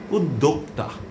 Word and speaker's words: উদ্যোক্তা: এরপরের আরেকটি রূপ হচ্ছে উদ্যোক্তা। এক্ষেত্রে আপনি কি করবেন? এ প্রশ্নটি এসেই যায়। আপনি যদি উদ্যোক্তা বলেন তাহলে আপনার উচ্চারণটি সঠিক, শুদ্ধ এবং প্রমিত।